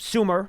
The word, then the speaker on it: Sumer: It's Sumer, spelled like summer, except only one M.